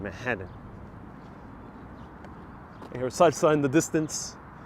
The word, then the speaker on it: Manhattan: the way you pronounce manhattan i was pronouncing it with the t's and now i know the right way to pronounce damn right damn right don't pronounce those t's in manhattan here side sign the